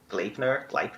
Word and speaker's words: Gleipnir: What's the third place is Gleipnir. I don't even know how you pronounce that. I think That's like it's Gleipnir.